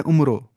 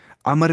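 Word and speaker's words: عمرو: अमन अंसारी पढ अमन कोई पढ़ता उमरो उमरो नहीं पढ़ना य साइलेंट होता है इसमें ना बहुत स पढ़ते उमरो पढ़ होते अम वो था एक अमर बिन लो अल खरेजी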